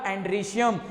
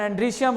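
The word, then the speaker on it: androecium: और जो उसके अंदर होंगे, जो मेल रिप्रोडक्टिव सिस्टम के काम करेंगे बच्चों, उसका नाम होगा एंड्रीशियम। ऐसे इसका प्रोनाउंसिएशन एंड्रीशियम है, कई बार इसे अपन एंड्रोशियम भी बोल देते हैं समझने के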